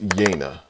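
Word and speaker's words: Yeine: named yina yaina Yani I had actually I had to go to the audiobook to just really find out how to say this because I yeah I think I think I already know right so yeah so her name is yayna I had to go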